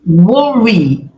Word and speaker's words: worry: If we worry, worry é o verbo preocupar. Worry termina com Y e aí sim você tem que pronunciar som de I.